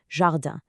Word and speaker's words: jardin: Then we have jardin. The pronunciation here needs that soft J sound and another nasal ending, jardin.